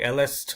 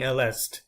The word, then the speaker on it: elle est: talk to French people, pronouncing these letters at the end, for example, saying elle est, is a big giveaway that you're not great in French.